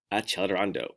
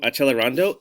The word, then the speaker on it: accelerando: Tucker, CC does not say ch, it's like k. No. All of our music words or terms rather are in the language of Italian. So we must make sure that we pronounce them the correct way.